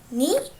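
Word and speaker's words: 二: okay so in onyami we call it as ni while in kunyami we call that futa of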